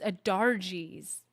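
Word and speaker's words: Ahdarji: Ajari's stolen ring. I'm sorry. See? And I'm complaining... We're talking about accents, and I'm saying her name wrong. It's not Ajari's. It's Adarji's. The R is before the J.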